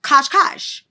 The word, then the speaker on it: Cascais: I mean, you should appreciate the fact that it's called Oh, it's pronounced kashkash. um with an emphasis on the second syllable and a sh sound at the end like the s in